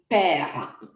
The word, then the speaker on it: père: Father in French is père. Père. Exactement. So you can see the E is sounding like père. Père. Mother is mère. Mère. So the E is also soft. Mère. Père.